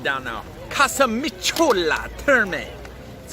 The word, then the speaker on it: Casamicciola Terme: Pronunciation down now. Casamicciola Terme.